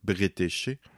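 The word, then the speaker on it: Bretécher: britchard jusqu'à présent d'ailleurs je prononce probablement très mal son nom il me semble qu'ulement on le prononce britché et par contre la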